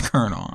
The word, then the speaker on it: colonel: have been reading colonel i never read that word until today it's colonel i've never read that word until today but it's kernel i can say the